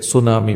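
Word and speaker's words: tsunami: एक अपरिचित शब्द मैंने वहां देखा जिसका spelling T एस यू एन ए एम आई था जिसे सुनामी पढ़ा जाता था। बाद में मुझे पता चला कि यह एक जापानी शब्द है।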